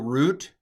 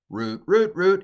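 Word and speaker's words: רוּת: Vayomer Boaz, Boaz, El root, root, it's Ruth.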